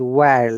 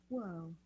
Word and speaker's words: whirl: It is whirl. Yeah, not whirl. Remember, H is whirled, silent. whirled.